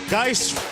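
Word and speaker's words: Guice: As they say down in Baton Rouge, Geis rhymes with red beans and rice.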